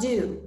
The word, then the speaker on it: Dieux: My last thing is plug dieux. Is that how you pronounce it? Yes, that is how you pronounce it. Plug dieux all day. The French word for God's dieux.